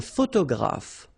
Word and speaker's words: photographe: Un photographe. So here, PH, and here, PH, pronounce it like F, photographe.